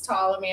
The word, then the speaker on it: Ptolemy: I'm gonna mispronounce Ptolemy. I'm gonna say the P again eventually.